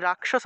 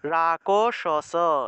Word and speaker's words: রাক্ষস: মনে করেন যে এই যে রাক্ষস আছে না, যদি হসন্ত না থাকতো, কয়ের নিচে হসন্ত না থাকলে রাকশস এইভাবে উচ্চারণ করতাম, রাকশস এইভাবে, রাকশস এইভাবে উচ্চারণ করতাম।